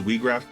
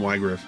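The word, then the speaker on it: Wiegraf: By the way, I I know his name is Wiggraph. I I still I pronounce these names the same way I did when I was a kid. So, I call him Wig.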